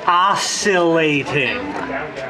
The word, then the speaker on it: oscillating: ] silent learn English it is oscillating it's not a hard C it's a soft s sound C simply and it